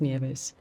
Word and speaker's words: Nieves: are Spanish migrants, and my name means snow, and it's pronounced Nieves, as you correctly say it. However, in Australia, it's been anglicised, and I get called all sorts of things, Tony, but mostly Nieves. However, my name is Nieves.